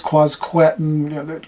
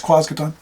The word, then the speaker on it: Quasqueton: quason is you know people are going to say it's quasqueton quason no it's quason okay just accept it